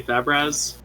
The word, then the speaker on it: Fabraz: know some people might pronounce it differently but for braz yeah uh we we usually let just people pronounce it as like well i've heard for braz we usually say fabras oh fabrez okay yeah but uh yeah awesome